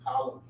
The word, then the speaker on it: Ptolemy: I think in documentaries people say Ptolemy. They don't say the top. Yeah. The P is silent.